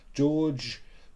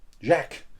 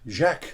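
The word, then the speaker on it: Jacques: pronounce it's B Village from George de George de Jack Jack not George Jack deu all the information will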